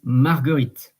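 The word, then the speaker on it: marguerite: is Daisy which is margarit and so uh it's like Margarita margarit uh margarit and um it's not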